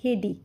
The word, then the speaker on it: Heidi: कुछ लोग इसे हाइदी बोलते हैं, इट्स हेडी।